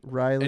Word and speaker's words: Ryleigh: Riley Cooper joins me now.